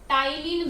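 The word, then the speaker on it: ptyalin: confuse नहीं होना है इसे टाइलिन भी बोला जाता है ठीक है पी यहां पर साइलेंट है इसे क्या बोलते हैं टाइलिन भी बोला जाता है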